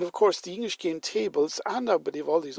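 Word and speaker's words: tafl: Viking game and they usually uh call that taffle TL but I want to point out to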